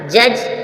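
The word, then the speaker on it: judge: एज as means किनारा जज जज मींस न्यायाधीश जज जज मींस न्यायाधीश जी से पहले डी आया साइलेंट रहेगा बारबार रिवाइज करेंगे आपको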